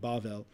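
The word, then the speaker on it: בבל: is itself just a transliteration of the Hebrew word that pronounced I apologize something like bavel this is from the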